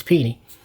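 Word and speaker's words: Pini: Uh been pronouncing that wrong so long. I was always saying Penny, but it's it's Pennie.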